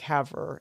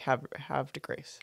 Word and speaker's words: Havre de Grace: They said I was putting too much emphasis on the R. You were saying like Havre, and it's more like have de Grace.